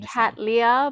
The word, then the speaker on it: cattleya: Lea is the yeah the way I've I've been saying cat Lea but it sounds better when you say catala yeah it rolls it